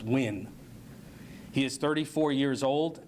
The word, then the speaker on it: Nguyen: officer andrew nguyen and i'll spell that it's n g u y e n pronounced win he is 34 years old and has been with lvmpd since 2018.